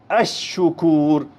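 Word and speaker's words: الشكور: शमसी की तरफ अराज अ शुकूर अरिक अ जाहिद असम अहिर अलल अ दबत अ राजिक अस सफर अदवा अ नाजिल अल अ सवाब गौर करें तमाम में लाम साइलेंट आया है यह कहलाते हैं शम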